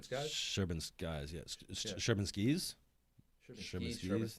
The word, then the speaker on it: Sherman Skis: from this company called Sherman Skies. It's Sherman Skies, right? Sherman Skies? Is that how you pronounce it? Sherman Skies? Sherman Skies, yes. Yeah. Sherman Skis? Sherman Skis? There's no E at the end.